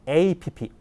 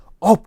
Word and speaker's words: app: store에서는 주로 만든게 바로 app 앱이거든요 업 그렇지 않거든요 무슨 말씀인지 아시겠죠 발음이 정확하셔야 됩니다 자 남들은 몰라도 한병철